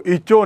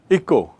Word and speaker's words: echo: इको यानी ECHO, इको, इसका उच्चारण देखिए, इको, इचो नहीं, इको।